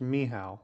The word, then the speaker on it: Michał: In Polish, it's pronounced Michał, but Michael is fine.